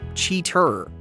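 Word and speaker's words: Cheetor: Over in the Transformers neighborhood, you've got Ravage, Steel Jaw, Cheettor, or is it pronounced cheater?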